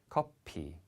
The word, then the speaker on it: 커피: We have the F in English, and in Korean that F sound gets switched to a P, so it's 커피.